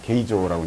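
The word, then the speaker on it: 京城: 되는데, 당시 서울을 이제 일본인들은 경성이라 불렀거든요. 게이조라고 이제 발음을 했었는데, 인구가 대략 한 25만에서 한 30만쯤 됐었어요.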